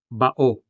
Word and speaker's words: bao: An example would be bao, meaning turtle. Bao has two syllables, ba and o.